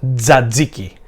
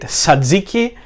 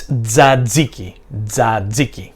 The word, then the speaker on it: tzatziki: Another question is how it is pronounced, and the pronunciation is tzatziki. Sometimes you hear people saying it tzatziki or tzatziki or tzatziki or something like that, but it's tzatziki.